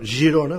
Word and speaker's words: Girona: excusez même le le le le gouvernement espagnol Girona parce que giron ouona c'est un village qu'il